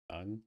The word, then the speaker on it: tongue: Tongue? You say tongue. Like T-U-N-G, basically, would be the pronunciation, phonetically.